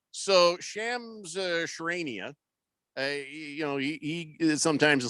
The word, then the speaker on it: Shams Charania: Shams Charania?